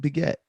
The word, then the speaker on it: Piguet: i saying it wrong it's it beget it's like you're saying pigette like you're emphasizing the get part you gotta like let